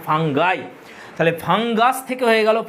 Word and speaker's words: fungi: Next চলে এসো আস থেকে আই, আছে ফাঙ্গাস, ইউ এস এর জায়গায় বসিয়ে দেবো আই, তাহলে হয়ে যাবে FUNGI। এর উচ্চারণ অনেকে ফাঙ্গি বলে, এটা ফাঙ্গি উচ্চারণ হয় না, ফাঙ্গাই।